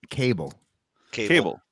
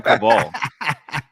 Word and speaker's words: Cable: Cable. Yeah. Okay, my Same bad. spelling, different pronunciation. Some people, I keep hearing people call him Cabal.